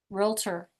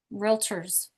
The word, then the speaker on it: realtor: This is pronounced realtor. Realtors. Not realtor, but realtors. Facebook friends.